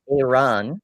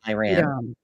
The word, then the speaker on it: Iran: Uh Theo says it's pronounced Iran, not Iran.